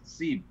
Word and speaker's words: Ceeb: How do you pronounce that? Ceeb.